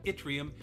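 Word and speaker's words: yttrium: table the answer is itrium spelled with a y but pronounced itrium and through all of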